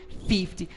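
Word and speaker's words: fifty: E assim como a sílaba tônica do 30 ao 90 está na primeira sílaba, por isso 30, 50, 70, coisas do tipo, tá certo?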